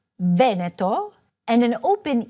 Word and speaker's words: Veneto: Sometimes "e"s or "o"s will be open or closed: a closed "e" in Veneto and an open "e" for Marche for example.